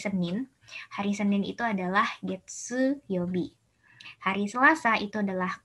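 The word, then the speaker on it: 月: Dibacanya Getsu.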